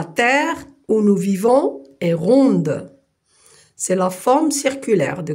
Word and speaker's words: rond: Alors, on a ici les mots rond. Et je ne lis pas le D. Rond, quelque chose qui est rond.